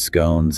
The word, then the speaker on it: scone: British, involving tea, sandwiches, scones, and cakes. And the guide makes that fun observation about the two common ways to pronounce scone, rhymes with gone or rhymes with cone.